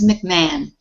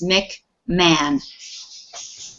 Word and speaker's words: McMahon: it's spelled this is mcmahon mcmahon for some reason mcmahon yeah so the h and o are not pronounced in this word it's mick man that is i think